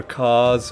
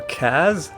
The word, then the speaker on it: Kaz: a name like this could be pronounced either cause or kaz i'm gonna go with cars for a couple of